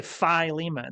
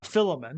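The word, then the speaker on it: Philemon: that right sorry filimon I used to say filimon and someone told me that's absolutely wrong filon Luther says I think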